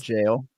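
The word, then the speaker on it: gaol: but I mean, yeah, that's spelled jail. The G, what is it? G-O-A-L? G-A-O-L, yeah. It's G-A-O-L, yeah. Jail. The Gowl.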